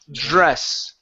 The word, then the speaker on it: dress: Dress. I think that's like J like J is the beginning. It is. Yeah. The beginning the beginning is like a J. So it's a jur dress.